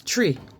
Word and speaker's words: Twi: languages came from africa also known as tree it's spelled twi and it's a group